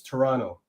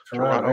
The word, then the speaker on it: Toronto: But you gotta the last T is silent there, Mark, and it's Toronto. Yeah. Toronto.